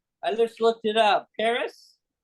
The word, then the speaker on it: PVRIS: it's spelled S8 so so this is Paris pvris which I talked about so I call it Purvis yes but that's not even remotely close to me they're